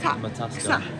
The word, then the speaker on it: Metaxa: How do you pronounce... Metaxa. Is that the one that's in the glass? Yeah. I told you, didn't I? Yeah. We're having a Metax. It's just a Matasca.